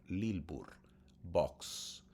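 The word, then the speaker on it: Lilburn Boggs: un día que estaba leyendo en su casa el diario del señor Lilbur Box, así se llamaba, en español es Lil Bur, Lilbur Box, así se pronuncia, así se en español.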